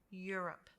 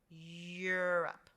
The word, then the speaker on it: Europe: coupled together like that remember you're going to have a sound like a y sound europe europe all right good job